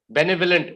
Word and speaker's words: benevolent: okay i'll repeat b e b-e-n-e v-o l-e-n-t benevolent is how we pronounce the word benevolent okay all right manju